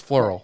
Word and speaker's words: Flierl: But thank you so much, Allison Flierl. That rhymes with squirrel. That's how we're going to remember that. If you're spelling it, it's Flierl, but it's Flierl. So we'll do that.